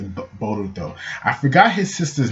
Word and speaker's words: Boruto: So we got Boruto, or in English Bolt, but in Japanese it's sounded out as Boruto, and it's just like, they tell you all.